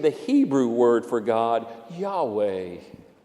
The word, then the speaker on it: Yahweh: Hebrew word for God, Yahweh. Say the first syllable, Yah, as you breathe in, and the second syllable, way, as you breathe out. The Jewish name for God, Yahweh, was not spoken.